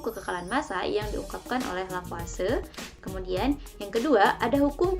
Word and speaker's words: Lavoisier: massa yang dikemukakan oleh lavase nah ditulisnya sih memang lavoisier namun dibacanya Rafa sedekat Nahla Fase ini merupakan corak Perancis nah dalam hukum kekekalan